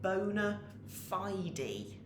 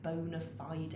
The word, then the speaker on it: bona fide: lovely you pronounce it bona fide you actually say the e on the end bona fide i don't know if